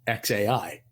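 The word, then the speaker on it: X Æ A-12: way it's pronounced is it's just the letter x and then a i so it's xai is the name of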